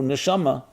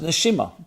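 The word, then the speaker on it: נשמה: As a matter of fact, the word soul in Hebrew, neshama, can also be pronounced neshima, breath.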